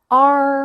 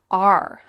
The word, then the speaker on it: our: Our whole family is. R. How is she pronouncing O-U-R? R. R. Does that sound like the letter R? Yep, it is the same pronunciation.